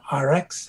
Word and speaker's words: ARIIX: Okay, the company is called RX, and it's called it's spelled ARIIX, and they are also the manufacturers of the Purity water system.